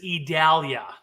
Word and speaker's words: Idalia: you came up you found out it is idalia yeah yeah I've had to Google it because